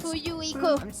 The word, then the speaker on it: Fuyuhiko: Mon nom de famille est, mon prénom se prononce Fuyuhiko.